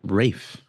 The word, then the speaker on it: Ralph: or Ray think yeah I think it's spelled Ralph but I think you pronounced Rafe really you said Rafe bro I think so